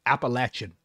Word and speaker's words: Appalachia: Finally, a party that appeals to the Appalachian working class. You hear that, Matt? I pronounced it Appalachia, like I'm supposed to.